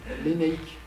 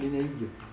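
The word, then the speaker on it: Lénaïg: Donc, l'Enaïk, qui s'écrit L-E-N-A-I-G, parce qu'en breton, on va l'écrire comme ça. Il y a des gens qui prononcent l'Enaïg. Bon, mais pourquoi pas ? Pour moi, c'est impossible. Phonologiquement, c'est impossible. Pourquoi ? Parce que assourdissement de la consonne en finale.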